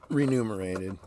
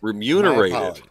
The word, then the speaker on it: remunerated: top five highest remove remunerated renumerated okay did they spell it wrong renumerated that sounds better remunerated remunerated what is that remunerated yes I think I learned a